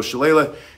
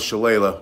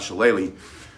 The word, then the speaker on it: Shillelagh: in County Wicklow, they have the town of Shillelagh where this is made. And so Shillelagh, and he, since he's Irish, he told me it's pronounced Shillelagh, not Shillelagh.